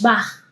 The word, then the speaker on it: Bach: Como sería como ish, no, no es ish, es Bach, porque A, O y U antes de la CH deja este sonido como y no ¿Okay?